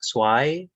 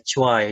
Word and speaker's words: zwei: Z kita baca sebagai C atau TS. Zwei, boleh Cuai, dua-duanya boleh.